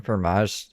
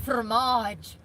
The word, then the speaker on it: fromage: Fromage. You gotta roll it, you know? You gotta roll that tongue.